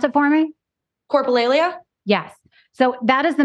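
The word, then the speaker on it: coprolalia: coolia is that how you pronounce it is pronounce it for me coralia yes so that is the medical term used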